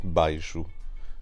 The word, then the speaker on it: baixo: Portuguese I would have baixo. because remember that sh sound shifted into a ch sound in Spanish.